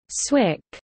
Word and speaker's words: SWCC: Warfare combatant craft crewman SWCC pronounced Swick insignia is awarded to